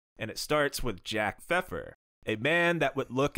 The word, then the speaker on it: Pfefer: when men were men you can't even say the p word the weird pronunciation that should not be just glazed over in the middle of this episode okay feffer was a promoter of